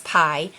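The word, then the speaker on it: Pye: Their last name is Pie, which she kind of does like a play on words, where she says, "Oh, we're the Pies," but it's spelled P-Y-E, and it's like a whole thing.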